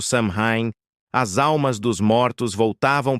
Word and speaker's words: Samhain: Pronuncia-se algo tipo Samhain, porque ninguém nunca sabe como se fala direito.